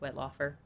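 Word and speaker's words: Wettlaufer: last name it says it says it's pronounced whitlocker Elizabeth whitlocker who murdered elderly patients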